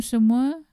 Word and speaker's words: semua: Normally, we will add another word, which is semua, S-E-M-U-A. It is pronounced as semua.